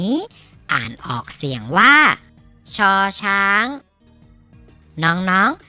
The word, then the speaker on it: ช: มอง เห็น อยู่ นี่ อ่าน ออก เสียง ว่า ชอ ช้าง น้อง ๆ ฝึก ออก เสียง ตาม ที่ มะตูม นะ ครับ ช่อ ช้าง ช ช้าง หมอ ช้าง พี่ นาง หนาว